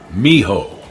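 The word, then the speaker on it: mijo: a pyramid on Wheels Miho is pronounced Miho discarded a discarded object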